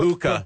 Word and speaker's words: Puka: Puka.